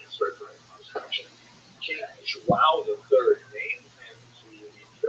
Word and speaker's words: João: I used to think it was wow, like when the baby was born, the body would say, wow, it's a boy, but it was actually João, and it was sort of instruction.